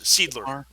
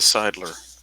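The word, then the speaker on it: Siedler: l e r Sidler like in Seinfeld yeah okay the Sidler yeah he kept sneaking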